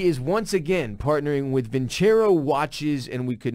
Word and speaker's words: Vincero: I was like, the idiots I used to work with were saying it wrong the whole time. Yeah, it's Vincero.